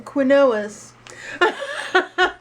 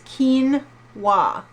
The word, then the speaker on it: quinoa: is quinoa now don't be a fool in pronouncing quois cuz that's not cool it's spelled differently than it's pronounced it's Quin wa all right so and it's totally delicious I